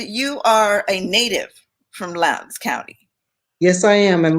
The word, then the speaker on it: Lowndes: Okay, it's Lowndes.